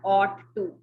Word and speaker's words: ought: ये जो रेड में लिखा हुआ है इसकी प्रोनाउंसिएशन है ought to, OUGHT. इसमें G और H साइलेंट हैं, इनकी कोई आवाज नहीं है.